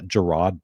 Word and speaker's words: Gerard: all the time too we just had uh Gerard Butler yesterday and I pronounced Jared but for like half of the show that I was on before I got corrected I was like all right fine fine gerro Butler I didn't realize it's spelled like Jared